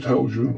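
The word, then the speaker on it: Heljan: Now, our good friends at Helgian or Helian, however you want to pronounce it, depending if you're middle class or not, have had a little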